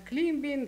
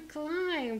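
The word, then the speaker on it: climb: он пишется помните климб Вот так все и читают Клим Бин Клим БД и вот это вот всё Это кошмар летящий на крыльях ночи потому что клайм произносится оно и вот когда такое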